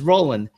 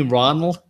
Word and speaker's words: Roland: Like, okay, my name is Roland, and when people call me Ronald, man, that just tweaks me out.